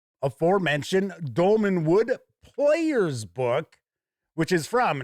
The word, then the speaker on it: Dolmenwood: I interviewed Gavin Norman, he had mentioned Dolmanwood. In fact, I kept mispronouncing it. I think I kept calling it Dolanwood, something like that.